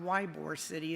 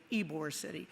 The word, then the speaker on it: Ybor City: And that's the way it's pronounced. It's not Ybor City, it's Ybor City.